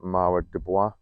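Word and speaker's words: Mara des Bois: towers here the strawberry i think it's pronounced marwa dubois very tasty strawberry kind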